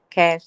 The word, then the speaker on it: Kaj: So it's pronounced as Cash, like cash money, but spelled with KAJ. Wow.